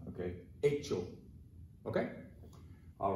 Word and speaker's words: hecho: What you're gonna have in Spanish is hecho. Remember that in Spanish, the H is silent. So you're not gonna say, cho, cho, you're not gonna do that, don't do that.